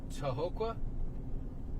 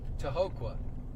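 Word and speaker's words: Tohoqua: on my right called toqua I've never seen that before to Hoka I think that I think that's how you say it t o h o qu UA to Hoka man if you live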